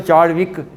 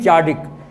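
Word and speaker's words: Chadwick: ये गोया याद रखना बेटे, ये जो चॉडिक है इसमें W साइलेंट है, बीच में W भी आता है, तो ऐसे पढ़ें तो चार्डविक, तो चार्डविक नहीं चार्डिक।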